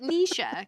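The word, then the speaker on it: Necia: But you pronounce it Nisha. Kind of like Alicia.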